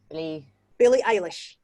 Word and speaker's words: Eilish: Billie Eilish.